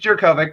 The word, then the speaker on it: Jurkovec: Yeah, it's Jurkovec, but it's fine.